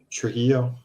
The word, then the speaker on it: Trujillo: you say the new bass player's last name Trujillo Trujillo okay but uh yeah no again like